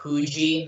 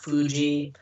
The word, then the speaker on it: Fuji: I know that an F, like the letter F, is usually pronounced, or is pronounced as a who. Like it's Mount Fuji, not Mount Fuji.